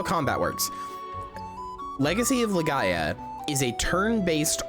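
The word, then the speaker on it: Legaia: But anyway, Legends of Leia is really cool. Um or Lega. No, sorry. It's Legends of Lega. That's how you say it.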